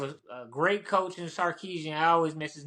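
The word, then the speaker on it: Sarkisian: now like have a a great coach in sarkeesian I always mess his name up no you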